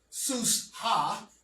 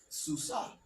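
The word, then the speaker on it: סוסה: That's why you have the ah and not ha. It's not sus ha susa because the hey acts as a vowel.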